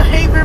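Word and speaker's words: Havre: Sabi ko, Haver pala ang bigkas.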